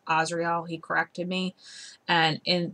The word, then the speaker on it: Azrael: of the archangel israel everybody mispronounces his name he tells me and calls him azrael the angel of death is asriel he corrected me and